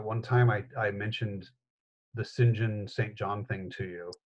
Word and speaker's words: St. John: to drop him in to the short story Sinjin is spelled Saint John yes and so when we